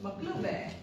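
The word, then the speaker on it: Maqluba: Maklube.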